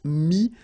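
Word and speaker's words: mis: Mi, same advice here, don't pronounce the final S like we had here. T is not pronounced, S is not pronounced.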